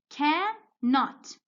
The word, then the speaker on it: cannot: Cannot. Cannot. You see? Am I pronouncing the N? No. I'm saying cannot. So I'm only pronouncing this N with not.